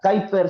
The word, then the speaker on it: Kuyper: Que se pronuncia Kuyper, se escribe Kuyper.